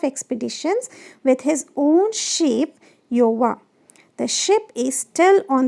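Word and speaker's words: Gjøa: Okay, so this ship name is Iowa. It is pronounced as Iowa.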